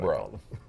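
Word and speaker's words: Breaux: e-a-u-s yeah so we i think we mispronounced it a couple times before we actually somebody told us hey it's just bro and it was easy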